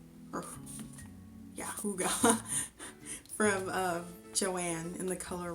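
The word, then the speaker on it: Hygge: And I got this yarn, which is spelled high G, but it's pronounced Hooga, or yeah, Hooga, from Joann in the color Rust.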